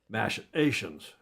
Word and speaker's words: machinations: And not talk about legal machinations." Ooh, I lost that middle syllable. Machinations.